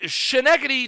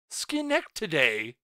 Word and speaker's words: Schenectady: Schenectady. See, I pronounce it like it would be like Atlantic Canadian.